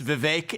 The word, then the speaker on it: Vivek: for the longest time it's Vivek it rhymes with cake I'd expect someone of